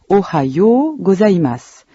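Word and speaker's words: おはようございます: De même, on prononce ohayou gozaimasu, en allongeant la syllabe yo.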